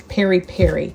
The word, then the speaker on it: peri peri: And we're going to add our uh Perry Perry. I hope I'm pronouncing it right. It's P E R I. P E R I. Two separate words. Like Maui Maui.